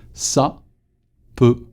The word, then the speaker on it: s'appeler: The apostrophe, l'apostrophe is not something that will interrupt your pronunciation. So it's not a, it's more like a shortcut.